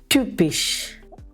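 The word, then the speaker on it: typisch: ഇവിടെ നമ്മളൊരു വാക്ക് കൊടുത്തിരിക്കുന്നു, ട്യൂപ്പിഷ്. യുപ്സിലോണിൻ്റെ ഉച്ചാരണം യു എന്നുള്ള രീതിയിൽ വേണം ഉച്ചരിക്കാൻ. ഉദാഹരണം ട്യൂപ്പിഷ്, ഹ്യുഗീനിഷ്, ട്യൂപ്പിഷ്, ഹ്യുഗീനിഷ്.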